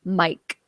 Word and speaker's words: Myq: By the way, it's spelled MYQ, Mike Kaplan. I know, weird.